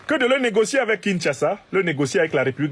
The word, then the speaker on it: Kinshasa: a clairement dit à kinsasa et me dit qu'il faut prononcer Kinshasa a clairement dit à